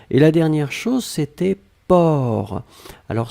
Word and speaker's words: porc: Alors souvenez-vous que porc, on ne prononce pas le C final. D'accord? Mais on doit quand même l'écrire. Donc vous écrivez P-O-R-C. D'accord? Donc porc, P-O-R-C, le C final n'est pas prononcé.